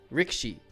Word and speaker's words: Rikishi: him a sumo but it's spelled Rikishi and then all the videos I've watched it's pronounced Rick sheet so I'll probably be saying Rick sheet when I mean sumo